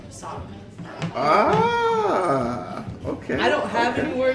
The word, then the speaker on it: Socaher: My kids play soccer, obviously, so I'm soccer mom, but it's not spelled soccer like soccer ball. It's spelled SOCAHER, soccer.